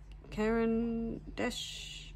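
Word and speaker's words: Caran d'Ache: is a um uh oh God how do you pronounce it a a karanes dases Karen Dash Karen Dash Karen Dash that's see Karen Dash a Karen Dash pen love it it's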